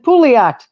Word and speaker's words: Pouliot: her on here, and I'm so glad to hear that I've been pronouncing her name correctly because I'm pretty good at slaughtering names. Let's be honest. I have had some doozies in my day, all right? And Pouliot, I've been saying it right.